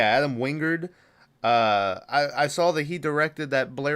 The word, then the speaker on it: Adam Wingard: But Adam Wingard, is that how you pronounce his name? Um, yeah, Adam Wingard.